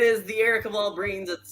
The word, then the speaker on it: Breen: No, you're Breen. Oh, Rhymes with green.